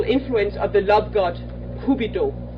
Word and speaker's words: Cupid: And one would be an unreachable influence of the love god Cupido. Is that how you pronounce it in English? Cupido? Cupid.